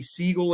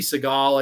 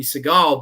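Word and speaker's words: Sagal: You have Katie Siegel in this, or Katie Seagal, I guess is how you really pronounce it, from like Married with Children.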